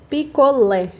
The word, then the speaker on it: picolé: A sílaba mais forte é o lé, que a gente nem precisa acentuar para falar lé, né? A gente não fala picolé, a gente fala picolé.